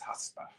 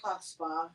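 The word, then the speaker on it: chutzpah: God look at her she thinks she has huspa oh my god Becky look at her huspa yeah so um that's our word of the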